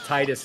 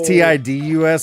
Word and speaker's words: Titus: Ferg says Titus knows. Yeah, it's not spelled like that, but that's fine. Oh! People always think it's TIDUS, like I named him after some dude from Final Fantasy, to which I would